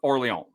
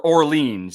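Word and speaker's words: Orléans: My number 4 is Nomopolis, which I'm sure you're familiar with Orleans. Yes. Or Orleans, as I'm sure many people pronounce it, because that's what it looks like.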